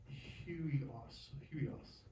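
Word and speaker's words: υἱός: Huios. Hmm? We've got No, there is an H. There is. Yeah, there's an H. We've got a diphthong. Huios. Am I good? Huios.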